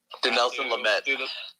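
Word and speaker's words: Dinelson Lamet: Denelson Lamet. Denelson Lamet. Thank you. Now I have a hard time pronouncing stuff, which is probably bad for someone who wants to go into broadcasting.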